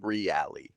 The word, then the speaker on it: Reale: Reale. Reale. Yeah, he's Italian. Is that an Italian thing? I think the way it's pronounced is Italian specific.